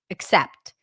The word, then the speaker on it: except: is a difference however this is an unstressed syllable and in normal conversation people just reduce the first syllable to aw just like I told you about the is sound that when it's unstressed it's reduced that's not the case with these vowels but specifically with these two words when people pronounce them the beginning syllable is usually reduced to awah except except okay so